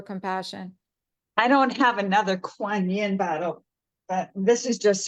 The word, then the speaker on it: Kuan Yin: Kunran Yin? Oh, Kuan Yin.